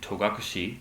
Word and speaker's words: Togakushi: to be away in togakushi mountain which is the modern pronunciation for toga kude mountain i take my dojo